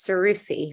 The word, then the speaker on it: Seroussi: I think often about our conversation, and I realize I think that I mispronounced your last name. It's Seroussi, right?